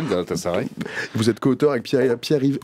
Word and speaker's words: Galatasaray: Vous êtes économiste, politologue, ancien professeur à l'université de Galatasaray, je le prononce bien? Oui, très bien, Galatasaray.